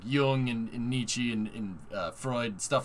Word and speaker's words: Nietzsche: some sense yeah exactly it's pronounced nietzsche uh by the way